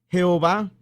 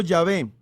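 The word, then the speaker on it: Yahvé: están tan seguros ahorita de que el nombre de dios no se pronuncia jehová sino llave entre otras varias razones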